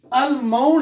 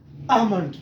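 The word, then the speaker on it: almond: Next, अल्माउंड हम पढ़ते हैं, बल्कि यहां पर क्या है, आलमाउंड नहीं है, यह है आमंड, आमंड। L will be आल्सो silent in this word, आमंड, आमंड, आमंड। ये एल जो है ना, यहां से कीप करेंगे आप, इसको हज़फ करेंगे, महफूज होगा, यहां पर साइलेंट होगा।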